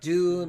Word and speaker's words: deux: Deux means two. It's titled Joker Folly Dux, but I don't know what it's The X is silent.